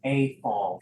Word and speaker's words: Eiffel: The pronunciation is A-fall. Thank you.